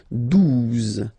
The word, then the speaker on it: douze: Okay, douze, douze. O, U, the two together will give you the sound OO. Okay, and then Z, douze, douze.